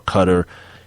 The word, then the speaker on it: Qatar: uh working conditions in Qatar or Cutter it's a so many different damn pronunciations to the damn it's two way yeah yeah cutter or Qatar those the two most popular it said this is